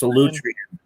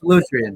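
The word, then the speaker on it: Solutrean: I think you're pronouncing that wrong, though, man. I think it's Solitrian. Well, yeah, I do. You get the wrong emphasis sometimes. The wrong emphasis on the wrong syllable.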